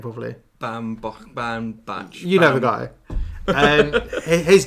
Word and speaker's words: Baumbach: Baumbach.